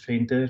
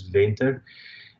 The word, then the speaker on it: Venter: And it's really nice to hear my last name being pronounced as Fenter, because here in the US it's pronounced as Venter.